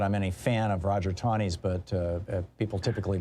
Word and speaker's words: Taney: Not that I'm any fan of Roger Taney's, but people typically mispronounce his name.